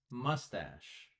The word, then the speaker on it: mustache: This part, the hair on a man's face, this part specifically is called a mustache. Mustache. Similar pronunciation to mustard, but it's not mustard, it's mustache.